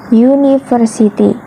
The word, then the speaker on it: university: huruf vokal nah Hai meskipun eh kata University ini diawali dengan huruf vokal namun pelafalannya itu berbunyi konsonan University nah itu Mengapa lo